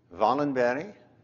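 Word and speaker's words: Wallenberg: is for you Steve in Swedish w is pronounced as V thus venogram the protagonist in this talk this afternoon Valen berry the most famous family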